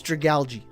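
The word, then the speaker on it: Dragalge: We are going to Dragali. Oh my god, I need to pronounce his name correctly. It is Dragalgi. I alternate between Dragal and Dragali.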